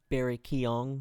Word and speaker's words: Barry Keoghan: Barry Keoghan.